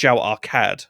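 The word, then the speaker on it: Zhao-Arkad: But this would be pronounced Zhao Arcad rather than Arcad. So there's that H noise that's just kind of in there with the other one.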